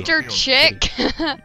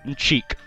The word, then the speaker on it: Mr. Chic: Also, that shirt is really Mr. Chick. Cheek, Mr. Cheek. Why do you say it like that? Because that's how you say eyes in Japanese-ness.